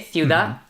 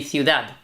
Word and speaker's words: ciudad: Or you can say ciudad. Like make it into a Z, ciudad. We would pronounce like a th. The sound, yeah. Okay, Yeah. so that's the three. I mean, the correct one would be ciudad with a D. But what you'll hear could be ciudad or ciudad as well.